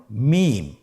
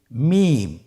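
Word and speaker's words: ميم: মিম। হরফটির নাম কি? মিম। মিম হরফটি উচ্চারণের ক্ষেত্রে অবশ্যই বারিক হবে, পাতলা হবে এবং তিন আলিফ টেনে উচ্চারণ করতে হবে। আমার সাথে আরেকবার চেষ্টা করুন। মিম আবার বলুন মিম হরফটির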